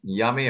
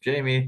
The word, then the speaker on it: Jami: Uh, well, I'm um Yummy or in English, Jamie, depends on how you want to pronounce it.